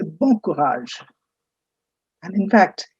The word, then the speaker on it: courage: The word is courage. You pronounce it as courage.